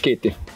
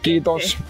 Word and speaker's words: Kiitti: Kiitti. Kiitti. Yeah. That's what I need to know. Kiitos.